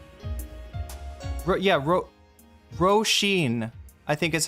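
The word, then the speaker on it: Róisín: Roshene is how you pronounce it.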